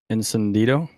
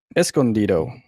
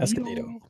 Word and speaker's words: Escondido: Encendido? Sure, we'll go with that. How do you pronounce it? He won't see us. That's it's Escondido. That's how you say it. Escondido.